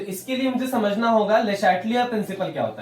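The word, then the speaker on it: Le Chatelier: ये ले चाटलियर प्रिंसिपल नहीं है, ठीक है, ले शैटलियर प्रिंसिपल है।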